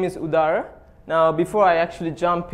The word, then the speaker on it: Udara: I'm Udara, and apparently some people get my name wrong. It's Udara, Udara.